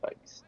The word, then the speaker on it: Fikes: running he's still going Google tells me that head coach Jimmy Fikes uh is pronounced FES so same after him